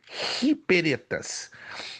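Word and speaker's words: ὑπηρέται: se pronuncia hi embora tá com hi é a pronúncia figurada do grego, mas se pronuncia hiperetas, que significa servo, servos.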